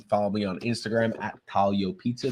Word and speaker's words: Taglio: me on Instagram at talo Pizza the g is silent t a g l